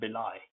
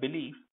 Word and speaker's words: belie: the next word is belai the lie in the previous word belief i was sounded like e but in this word it sounds like i belie so believe belief shot